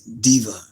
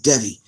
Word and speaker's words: Devi: I think in the American Western way of pronouncing things is Diva. Or, Devi. In the Western world, they say diva, but it's actually Devi.